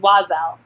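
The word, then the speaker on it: Oiselle: that's okay I I never knew how to pronounce it either but it's wazzle okay I'm like obsessed with the clothing that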